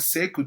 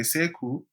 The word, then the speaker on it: Sekou: And he was called Sekou Touré. Sekou is a West African pronunciation of the word sheikh.